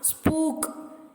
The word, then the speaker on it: spook: The letter group OOK is mostly pronounced with a short U. As in put, exceptions are spook and snooker.